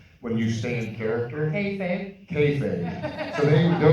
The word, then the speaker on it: kayfabe: Kayfabe.